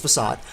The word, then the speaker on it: facade: Of course, now I know it's pronounced Facade.